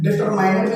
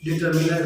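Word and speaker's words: determiner: कुछ लोग इसका प्रोनाउंसिएशन डिटरमाइनर भी करते हैं, कुछ लोग इसका प्रोनाउंसिएशन डिटरमिनर भी बोलते हैं, तो बहुत बड़ी बात नहीं है।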